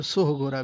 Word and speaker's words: सोहगोरा: इसको सहगोरा भी बोला जाता है और सोहगोरा भी बोला जाता है, तो दोनों ही बातें याद रखेंगे आप। इसीलिए इसमें आपको परेशानी नहीं होनी चाहिए कि सोहगोरा या सहगोरा क्या बोलें। तो ये दोनों ही उच्चारण किए जाते हैं और भिन्न भिन्न भिन्न